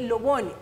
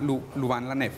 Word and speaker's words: Louvain-la-Neuve: de la Universidad de Lobogne. ¿Se pronuncia así en Bélgica? Buenas noches, Camila. Se llama Louvain-la-Neuve. Louvain-la-Neuve, en Bélgica.